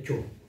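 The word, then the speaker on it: Kyaw: Tulisannya Kyo. Baca Cho. Bacanya Cho.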